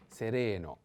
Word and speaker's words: sereno: chelo sereno and sereno i have to put the accent on the second e sereno sereno means clear serene